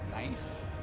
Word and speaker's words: NAIC: fans for this event at neic pronounced nice pronounced nice here we man go